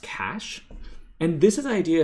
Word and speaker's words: cache: c-a-c-s sorry c-a-c-h-e um which is spelled really weird but it's pronounced cash and this is the